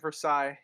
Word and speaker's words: Versailles: remember that as well it's the Treaty of Versailles you don't pronounce the old close enough close enough